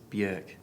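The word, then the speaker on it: Björk: well we may know as bjerk yep that's generally how we pronounce the name that's been pretty established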